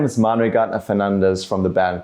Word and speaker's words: Manuel Gardner Fernandes: My name is Manuel Gardner Fernandes from the band called Unprocessed. I'm currently in Taipei, and you're watching YSOLIFE. Hello，大家好，欢迎收看《乐手潮》这一集的节目，我是今天的主持人 John。在我旁边是一个有弹吉他应该都很熟悉的吉他手。I'm trying to pronounce the name correctly, Manuel Gardner Fernandes.